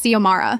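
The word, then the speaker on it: Xiomara: My name is Ziamara.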